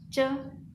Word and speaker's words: 着: Hanzanya seperti berikut ya, bacanya ce.